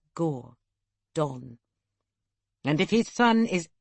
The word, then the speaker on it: Gordon: She pronounced it as two words, Gore. Dawn.